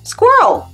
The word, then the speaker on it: squirrel: que darthader fait alors ESS mettez la bouche comme ça r R et si on met les deux ensemble squ roll squir roll Squirel Squirel squirrel est-ce que tu connaissez